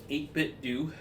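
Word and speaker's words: 8BitDo: just to chill, play some games, is this 8-bit do.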